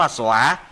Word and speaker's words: สวา: สวา สว อา สวา ส เสือ ว แหวน สระอา อ่าน ว่า สวา สวา หมาย ถึง สวาคะโต ภะควตา